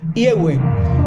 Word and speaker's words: Yahweh: que refiere a que la pronunciación en el idioma castellano sería I-E-U-E, Yahweh.